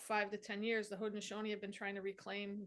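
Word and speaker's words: Haudenosaunee: pronunciation of those letters when in uh hodnishoni it's actually pronounced so it sounds completely different than to Warrenton there's no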